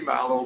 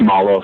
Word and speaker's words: Mallow: for and tess i want to say model but i'm thinking it's melo um could you help me out with your last name i hate to mispronounce it it's mallow sir milo thank you um applicants